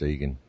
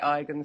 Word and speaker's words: Igan: It's spelt Igan, but it's pronounced Egan. Okay, brilliant. Because we'd say Egan in Ireland here, but the Americans say Igan, so I didn't know how it was in Australia.